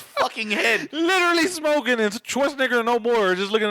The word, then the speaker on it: Schwarzenegger: Oh, it's Schwarzenegger.